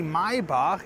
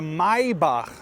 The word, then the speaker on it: Maybach: of the SL 680 Maybach is completely changed if you just compare it with the AMG model.